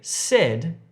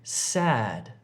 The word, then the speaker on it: sad: Don't say said if you're trying to say sad. Said, sad.